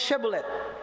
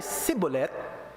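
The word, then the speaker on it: Shibboleth: Pag sinabing hindi, bigkasin mo ang Shebolet. Pag ang bigkas niya ay Sibolet, ibig sabihin, Ephraimita siya at siya'y papatayin.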